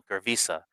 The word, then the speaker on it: Girvisa: We were the first residents of the valley, which they call Gravisa, or which we call Gravisa, which is spelled Girvisa.